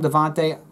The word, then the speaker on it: Devonta: And that's kind of Devonta Freeman. Devonta Freeman, you know, people call him Devonta, people call him Devante. We'll call him Devonta Freeman. I've heard both pronunciations, so we'll just go with Devonta, I guess.